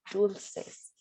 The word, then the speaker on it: dulces: Dulces. That No, soft C we just talked about.